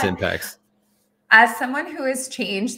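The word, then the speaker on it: Impaxs: Can you please pronounce the name of your company? Yeah, I love that. It's Impacts.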